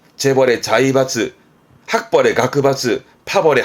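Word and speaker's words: 学閥: 자이바츠, 재벌의 자이바츠, 학벌의 가크바츠, 파벌의 하바츠.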